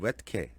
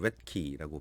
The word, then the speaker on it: Roethke: 시는 테오도르 레트케 또는 레트키라고 발음하기도 하는데요.